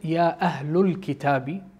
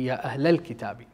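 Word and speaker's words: يا أهل الكتاب: I've used the wrong pronunciation of the minor syllable vowel sound from the Quranic verse, in which I said Ya Ahlul Kitabi, and it's supposed to be Ya Ahlal Kitabi.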